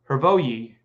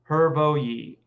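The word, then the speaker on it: Hrvoje: It's pronounced Hervoyi. Oh, I like that. Hervoyi.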